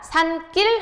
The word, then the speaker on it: 산길: 우리 발음할 때 어떻게 됩니까? 산길 하고 뒷말이 지금 예사 소리가 된 소리로 발음이 되죠.